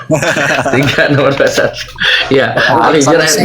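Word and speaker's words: Al-Hijr: Pengucapan yang benar itu Alhijr.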